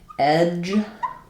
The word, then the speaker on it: edge: Um looking at a difference between a word like edge with the voiced J sound and etch with the voiceless ch sound.